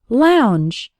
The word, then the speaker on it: lounge: words like and Lady the o u has an ow sound like in the words how or loud and the letters NG